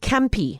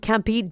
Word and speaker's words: Kampi: Um, I'm talking about a platform called Campy and it's spelled K A M Pi and it's it's kind of like an Airbnb for caravans and uh camping equipment as well.